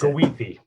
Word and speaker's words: Goethe: It's pronounced Goethe.